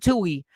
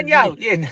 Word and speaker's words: Netanyahu: Now they're like, wait a second, wait, we did this, and we and Nat and Tui, the prime minister. I know I'm pronouncing. Oh, Netanyahu, Netanyahu, not Tui.